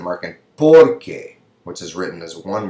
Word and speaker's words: porque: The stress is on que, and here it's on por.